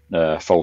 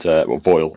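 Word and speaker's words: Foel: is built and established Foal Studio in mid Wales, and Foyle as it's actually pronounced, but he just rang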